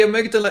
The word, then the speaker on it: amygdala: That's how you say it, amygdala.